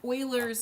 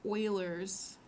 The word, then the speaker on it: Euler: E is called Euler's number. Some students might accidentally say Euler because that's what it looks like. But if you want to sound smart, then you're going to pronounce it Euler's number.